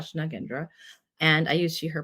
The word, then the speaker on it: Nagendra: can my name is nendra also it's pronounced nagendra but I have been using both lately my name is nendra nagendra and I use she her pronouns and I